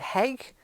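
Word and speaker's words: hygge: I think it's called I think you pronounce it heg which is about the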